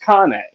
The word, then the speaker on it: Cane Corso: you spell it C NE e but it's pronounced Kane right they they come from Italy and it's